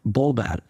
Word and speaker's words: Volver: I've learned that the V is kind of pronounced like a B in Spanish. So to me, it reads Volver, but when people here say it, it sounds more like Bolver.